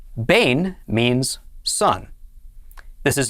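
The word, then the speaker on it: בֵּן: dogesh so it is pronounced altogether this is pronounced bane bane means sun this is not the sun that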